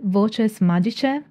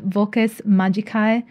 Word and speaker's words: voces magicae: communicate with Divine Powers many spells incorporate vultures magician in medieval Latin pronunciation and vocus magikai in a classical Latin pronunciation which means magical words